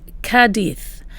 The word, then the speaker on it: Cádiz: We did this in Cadiz, and during that tour we found out that the locals in Cadiz pronounce the place Cadiz. The Z has a TH sound.